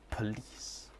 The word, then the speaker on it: police: An example of this is police becoming police. Police.